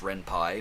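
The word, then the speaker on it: Ren'Py: the renpi engine which i was calling the renpe until i found out it's actually pronounced renpi more on that later but rempah is extremely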